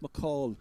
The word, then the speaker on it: McCahill: And then we have in the corners Conor McCahill, I think pronounced McCall locally as far as I know.